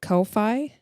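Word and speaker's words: Ko-fi: Kofi, because there's no fee.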